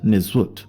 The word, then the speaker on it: nswt: the term nswt on the screen this is pronounced nizut this is the original title of the Pharaohs